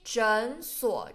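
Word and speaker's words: 诊所: 诊所 here clinic 中医诊所诊 second tone you shouldn't pronounce it in third tone because there's two third tone together. You should pronounce the first one to second tone.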